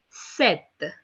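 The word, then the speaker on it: sept: cease cease cease okay seven in French is being written down as s-e-p-d which is being pronounced as Seth Seth okay eight in French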